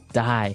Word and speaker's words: dye: Okay, dye. So it's pronounced exactly the same way as, to die, to not live anymore.